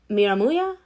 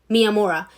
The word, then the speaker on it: Miyamura: Basically, it's with the characters Kyoko Hori and Izumi Miramuya. Wait, Izumi Miyamura. There we go. Sorry, I kind of butchered it at the beginning a bit.